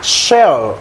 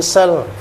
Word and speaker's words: shall: Shall itu akan kan? Ini juga bacanya sell tapi menjual. Ini beda cara bacanya. Kalau kita baca ini sell, saya akan pergi, I shall go gitu. Kita baca S biasa, didengar orang itu akan menjual kan?